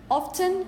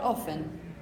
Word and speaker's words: often: said the other day in this particular word it's totally up to you if you want to say often or often up to you because both pronunciations are our Achaean are admitted not possible okay maybe more conservative options would say often and more innovative options might say often pronouncing the tea again but totally up to